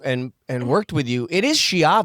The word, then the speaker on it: Schiavi: It is shy, right? Is that the correct pronunciation? It's technically shy, but if you say in Italian, it's okay.